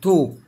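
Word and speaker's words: talk: في اول حاجه عندي الا a لو جه وراها الال يا جماعه الا a دي هنطق او والال مش هنطق زي كلمه ايه ها برافو توك ما نطقت الال ها اويز دائما كلمه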